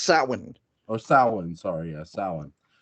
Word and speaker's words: Samhain: the only actor in the Halloween franchise who pronounces something right. San Juan, sorry. So he pronounces it right. That's not how it's pronounced. Oh, well, hey, according to him, it is. Okay. It's pronounced Samhain.